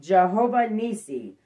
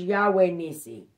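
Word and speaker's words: Jehovah Nissi: is deuteronomy 20 3-4 ephesians 6 10-18 is pronounced jehovah nisi also known as yahweh nisi name of the altar built by moses after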